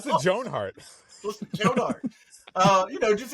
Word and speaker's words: Joan Hart: or three years ago why did you put the emphasis on Joan why you that's how it's pronounced jonart jonart uh you know